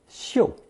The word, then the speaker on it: 嗅: The second, more elevated pronunciation of chòu is xiu in the phrase 无嗅 for odorless.